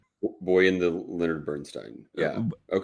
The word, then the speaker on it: Bernstein: was just recently called out that it is Bernstein and not Bernstein. So, I apologize for making that gaff in pronouncing his name.